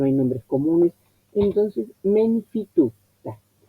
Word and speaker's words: tutta: Entonces, Menfi tutta. La doble T la vi y la escribí. Pero los acentos, ¿dónde van? Menfi, el acento adelante, tutta, el acento antes de la primera sílaba.